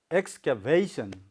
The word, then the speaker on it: excavation: Yes, excavation. Excavation. So you have to make your sound louder at vation.